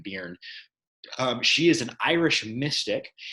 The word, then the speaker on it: Byrne: I think that's how you pronounce her name, Byrne.